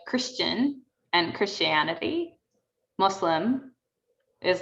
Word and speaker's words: Muslim: i want to just call out the pronunciation on both of those islam and muslim because that's how we say those terms and that's how i